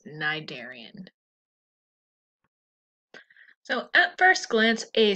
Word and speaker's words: cnidarian: in the phylum nigeria the sea is silent so that's cnidarian so at first glance